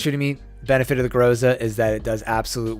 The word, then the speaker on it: Groza: I know there's a couple different ways to pronounce this weapon's name. I'm just going to go with Groza for right now because that's the easiest for me.